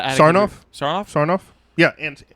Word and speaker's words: Sarnoff: I pronounced it right? Sarnoff? Sarnoff? Yeah, Ann Sarnoff.